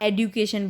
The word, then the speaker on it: education: तो बच्चों इसे एजुकेशन को आप एडुकेशन बोला करिए, ठीक है। सी पोलाइटली, क्योंकि इसका लेटेस्ट प्रोनाउंसिएशन एडुकेशन है, काफ़ी दिनों से है, आप इसको इसी तरीके से बोलें।